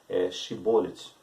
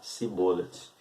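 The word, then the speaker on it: Shibboleth: como juiz naquela época, irá expressar uma palavra que significa ali Shibolet. E já os Efraimitas irão expressar a mesma palavra, sendo que a pronúncia vai ser diferente. Eles irão pronunciar Sibolet. Ambas as palavras significam a mesma coisa, mas a forma de pronunciá-las estão totalmente diferentes na sua primeira sílaba. Shibolet e Sibolet.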